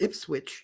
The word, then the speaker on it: Ipswich: So but they still pronounce Ipswich and the W in Ipswich, but they don't pronounce the W in Norwich.